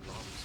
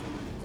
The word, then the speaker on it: lums: I always called them lums. Yeah, I always call them lums too, but after like even though like the manuals and all that say it's whatever it's pronounced looms, I just can't go back to that.